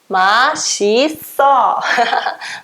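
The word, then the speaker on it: 맛있어: Não, isso aqui é só a pronúncia, tá? A gente tem regras de escritas, regras de pronúncia.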